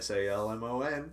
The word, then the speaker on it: Salmon: Yeah, if you go to YouTube, Salmon, Salmon. Just like the fish. Just like the fish. Don't say it that way.